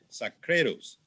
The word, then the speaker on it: Sacrédeus: good morning dr sacredos i hope that i'm pronouncing well your last name very very very well succeeded yes we pronounce it in swedish so you you did it very well sadly i'm i'm not